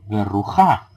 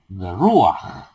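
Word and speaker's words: בְּרוּחַ: no es correcto leer berrujá, sino que debe ser berruaj. Aj, la vocal, el pataj, se pronuncia antes que la consonante.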